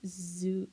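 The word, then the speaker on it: Zou: also not there yet it's pronounced Zoo zo not Zoo okay zo like like Zoe but no e Zoo God damn it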